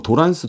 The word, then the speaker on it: 도란스: 하곤 합니다 그리고 뭐 도란스 도 란스 하시죠 트랜스의 영어 트랜스 일본식 발음이 도란스 에요 그래서 변압기 트레이스